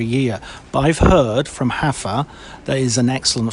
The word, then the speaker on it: Rafa: It's not Rafa? Yeah, you've been pronouncing it incorrectly all this time. Oh yes, because it's not Ronaldinho, it's Juanadinho. Yes, that's true. Okay, so Hafa.